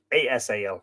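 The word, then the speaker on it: Easal: reached the country of how to pronounce it e-a-s-a-l is it is that is easel or ASL easel we'll call it King of the pillars of gold rumor had gone before then or was their pronunciation going to eat yes it's pronounced there you go Asal so that's how I shall pronounce it so let's do that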